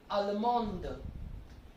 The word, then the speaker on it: Allemande: To make it feminine, add an E, and then the D will be pronounced. So it will be Allemande.